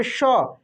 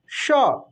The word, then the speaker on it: श: दोस्तों मृदा बोलते हैं तो देखिए जो ये तलव्य श सिंपल है दोस्तों जो तलव्य श है इसका उच्चारण तालु होगा देखिए तलब श श आप जब तलब श